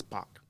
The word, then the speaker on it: Pak: It's how it sounds like, but it's Pock. Because I've heard people call your dad Pock, and I'm like, wait a minute, is that Pack? And I've been wondering if I'm saying your name wrong.